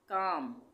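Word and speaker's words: calm: काम, काफ, सब में एल साइलेंट है।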